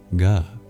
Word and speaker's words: gha: As I said, this is a breathy G, so not just a silent letter, it really does make a sound, ga, ga, rather than ga, ga. Not just louder, but truly you're adding more breath, ga, ga.